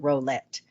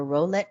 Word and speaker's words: Rowlett: quiet suburban neighborhood in Rowlett. Rowlett. I want to say Rowlett, but I did the pronunciation and it's row, just like row, row, row your boat.